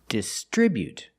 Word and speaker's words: distribute: We put the stress on the second syllable. distribute pronunciation.